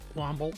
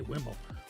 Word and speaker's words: Wombo: And welcome back, Wombo. I always say Wimble. Wombo. Wombo. I get that right.